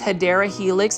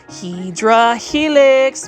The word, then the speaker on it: Hedera helix: For those that have never been to this channel, I mispronounce Hedera Helix as Hydra Helix because that's kind of like a plant foldy staple.